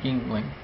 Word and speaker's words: Yuengling: headquarters in Pottsville Pennsylvania um and the official pronunciation of Yingling is Yingling um some people say healing uh I I used to call it healing but it's supposed to be Yingling and the